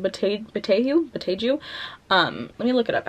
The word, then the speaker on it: Boteju: Anyway, next we have Bruised by Tanya Botei. I forgot how to pronounce her last name. Boteju.